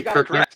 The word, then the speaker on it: Kirchner: Did I say Kirchner?